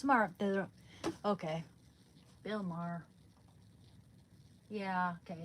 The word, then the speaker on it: Maher: I think it's May her pronunciation Bill. No. Yeah. Okay. Bill Maher. Mah. It's Mar.